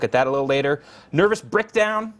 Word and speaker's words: Brickdown: that a little later nervous brickdown that's not a mispronunciation that's brickdown like a brick brick it down not not breakdown brick down uh that's for the